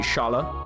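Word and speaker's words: Schala: Is she Lady Shala? Which I'm mispronouncing, but SCH in German is sh, so I'm pronouncing like it.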